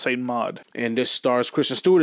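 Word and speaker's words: Saint Maud: very lowkey horror film called saint St mod yeah at least I think that's how it's pronounced s mod and this Stars Christian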